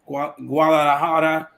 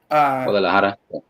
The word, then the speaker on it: Guadalajara: I heard you mention I always mispronounce that name. Guadalajara. Guadalajara.